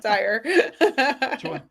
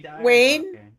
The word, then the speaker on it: Dyer: Whoever that is out there, Dyer. Dwayne Dwire. Now it's stuck in my head. I know. I can't say it right. To save my life. Dyer. Is it Wayne Dyer?